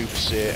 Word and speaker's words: Vénus Baissé: were in game, obviously you would mistakenly try and read her first name as Venus, but it's actually meant to be pronounced as Vénus, so it's meant to be Vénus Baissé, and then obviously the